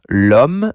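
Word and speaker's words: l'homme: Lum means the man. Normally the for a masculine noun is l, but um begins with a silent h. So French treats it like it begins with a vowel sound.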